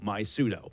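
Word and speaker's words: MySudo: and that's my suit it's spelled m y s u d o my pseudo it's an app that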